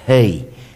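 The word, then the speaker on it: ה: as letras no hebraico, mas é a letra Hei. Eu estou a dizer Hei, porque é precisamente assim que se pronuncia, Hei, como um sopro.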